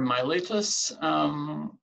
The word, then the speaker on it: Miletus: and then we have Miletus or my lettuce some people pronounce it it's the city of